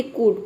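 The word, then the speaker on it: could: भी लेटर हो तो वहां पे जो एल है वह साइलेंट रहता है यानी कि हम एल का उच्चारण नहीं करते हैं जैसे कि यहां प देखिए कुड कुड देख सकते हैं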